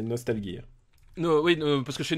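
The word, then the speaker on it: Nostalghia: Je te l'ai prononcé à la russe, c'est Nostalgia.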